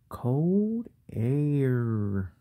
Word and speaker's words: heir: you guessed it cold air because the age is silent right guys and i